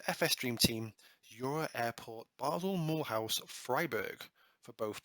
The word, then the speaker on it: Basel: from the very set it is pronounced basel in switzerland not basil not basel basel and it's most famous